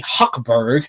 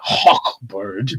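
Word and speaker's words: Hochberg: he and District Attorney Huckberg, I say it like that, Huckberg. I know. I get that phlegm in the back of the throat for that one. Huckberg.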